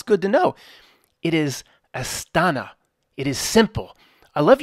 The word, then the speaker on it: Astana: he says to me Matt why are you saying astanta it's Astana to spell it incorrectly and pronounce it wrong